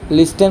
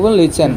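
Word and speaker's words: listen: আছোর কারণে কি হইব টি লেটার টু সাইলেন্ট থাকবে কি লিসেন পাই আমার ছাত্রছাত্রী আজ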